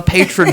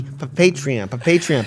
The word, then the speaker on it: Patreon: This is what you get on the Patron show. No, Dan. It's pronounced the Patreon.